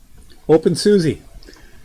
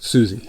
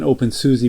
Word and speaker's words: openSUSE: OpenSUSE. I know it's not pronounced Susie. I know it's pronounced some way else, but I like OpenSUSE. I'm gonna call it OpenSUSE.